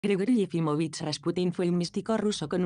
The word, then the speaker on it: Rasputin: Rasputin es la transcripción procedente de la pronunciación francesa, mientras que la forma correcta de la pronunciación rusa es Rasputin.